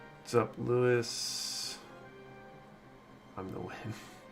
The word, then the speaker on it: Nguyen: kicked my dog i think it's pronounced like win if i recall correctly i was new in it's